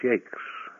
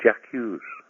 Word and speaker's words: Jacques: Hello, my name is Brian Jacques. When I go to America, people fondly call me Mr. Jack Hughes, or Jack Wes, or even people who think they can speak French say, hey, it's pronounced Jock.